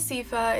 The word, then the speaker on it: Sifa: But my name is Sifa. It's not Sifa. It's not Sifa. It's not like anything else you could come up with that's not Sifa, because I've heard so many different pronunciations of my name. It's crazy. Like, it's literally just Sifa. Like, that's all it is. That simple.